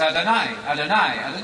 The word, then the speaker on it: Adonai: speak of god as adonai you can remember this it rhymes with el shaddai everybody knows that song